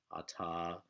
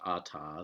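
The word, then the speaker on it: אתה: the word for you, ata. So it's masculine singular you. And you'll notice in your book it can also be written without the hey, but it's still pronounced ata.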